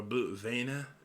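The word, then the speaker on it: Blut Vene: hadn't been for the blue vein or blue Vena as they end up pronouncing it in the anime he would have been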